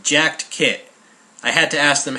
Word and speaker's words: Jaktkit: the company that makes this is called the Jack kit right jacked kit I had to ask them how to pronounce that because my Swedish is not that